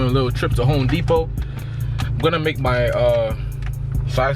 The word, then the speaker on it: Depot: Home Depot. People say the Home Depot. All right. If you really think about it, it's Depot, not Depot. No, the T silent.